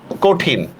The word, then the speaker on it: কঠিন: উচ্চারণ কি হবে বলেন কঠিন খেয়াল করেন কিভাবে হবে অ ধ্বনির পরে রসই আসছে অ ধ্বনির পরে যেহেতু রসই আসছে এজন্য আমরা কি করবো ককার ক ঠস্কার টি